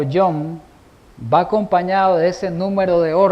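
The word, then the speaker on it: יום: Entonces, la palabra hebrea que se traduce como día en Génesis viene de una palabra que se escribe yom.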